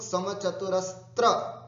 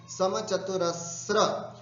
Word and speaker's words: समचतुरस्र: समचतुरस्र संस्थान, ध्यान से सुनना, इसका उच्चारण ठीक करना है, समचतुरस्र। ये कई लोग समचतुरस्त्र त्र करते हैं, नहीं, समचतुरस्र।